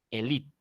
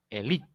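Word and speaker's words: élite: Si esta palabra la leo como castellano, tendría que decir elite. Esto sería elite, pero ninguno de nosotros lee elite. Leemos elite. La E se suprime. Hacemos acento en la I, elite, de esa manera.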